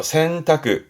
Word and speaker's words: 洗濯: 발음은요. 그렇죠. 센타크.